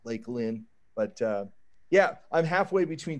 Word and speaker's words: Lakeland: nobody in Lakeland pronounces it's not Lake land that's how it you know reads out but everybody calls it Lakeland like it's a I don't know Lake Lynn but yeah I'm halfway